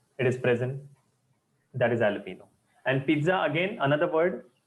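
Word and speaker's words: jalapeño: a chili pepper yes the pronunciation is alapo not jalapeno alpino you know Domino those red chili pepper it is present that is alapo and pizza again another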